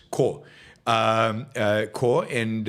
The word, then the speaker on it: Corps: And um core, not corpse, core um core. And I don't know why in English you put a P there when you're not supposed to pronounce the P.